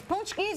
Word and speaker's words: pączki: these how do you say Richard roer it's punchies or you're asking hit let's phone our let